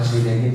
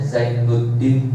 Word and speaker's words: Zinedine: Sebenarnya namanya bukan Zinedine Zidane, dibacanya Zainuddin Zidane.